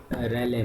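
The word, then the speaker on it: Rayleigh: रैले method, रेलीज normally हम पढ़ते हैं। रैले जो है एक जो है एटिकेट लैंग्वेज में हो जाता है प्रोनाउंसिएशन। आपको जिसमें कंफर्टेबल लगे वही आप पढ़ो, क्योंकि अल्टीमेटली मेथड याद होना चाहिए।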